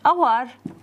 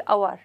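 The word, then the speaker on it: hour: نقول صوت، صوت اللي، لان بعض الاحيان مثلا كلمة اور هي مبدوءة بحرف صحيح، لكن انا راح اقول ان اور. ليش؟ لانه الصوت راح تبدي بصوت اللي، شوفوا دا اقول اور، يعني هذا الاتش سايلنت.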